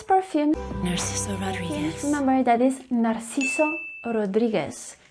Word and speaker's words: Narciso: first one is that the letter c in the name narcisso tends to be pronounced as nar kiso remember when the c